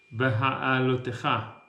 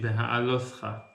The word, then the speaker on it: Beha'alotcha: This week's Parasha is Beha'alotcha, or in the Ashkenaz pronunciation, Beha'alotcha, which means when you basically rise up to kindle the menorah, the lamp of the seven candles.